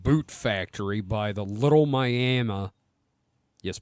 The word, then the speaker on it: Miami: near the old Boot factory by the little miam yes miam spelled Miami but pronounced Mi the Little miam River when he